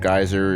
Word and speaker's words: Gyzer: You can see the game in there in my description under creations, called Geyser. It's spelled Gyzer.